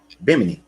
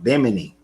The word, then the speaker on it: Bimini: Bimini. So I've been saying it wrong as well, but Bimini.